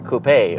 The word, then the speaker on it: coupe: This is the 2020 Honda Civic Si Coupe, or Coupe, or however you like to pronounce it.